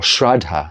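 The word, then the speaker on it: śraddhā: But what the Buddha taught and how it is taught is that saddha, or shraddha as they pronounce it, I think, here and say it, they use a lot of, it sounds like Sanskrit here, even though we have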